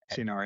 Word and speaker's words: Senor: We listen to the All In podcast with, how do you pronounce it? Dan Senor? Dan Senor? Senor, yeah.